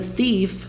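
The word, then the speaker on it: thief: ladrão e ela falou pronúncia dela é um pouco estranha tive eu tive esse th é feito com a pontinha na língua entre os dentes e sopra sci-fi sci-fi teve ok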